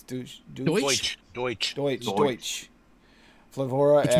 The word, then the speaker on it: Deutsch: It's not Dutch, is it? It's Deutsch.